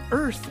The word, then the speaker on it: Irth: The app is called Earth, which is spelled like the word birth, but we dropped the B for bias, so it's IRTH.